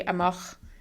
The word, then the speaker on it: amach: in English, Pioch amach, so it's kind of like to mock somebody, amach, Pioch amach leabhar.